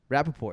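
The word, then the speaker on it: Rapaport: from new york michael rapport rappaport is that how you pronounce it oh yeah he's from new york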